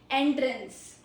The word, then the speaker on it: entrance: Entrance. Pronunci. There are two pronunciations. First is entrance. Entrance. So what is this? It's a noun. Really easy. So first syllable stress meaning is a door or opening used to enter.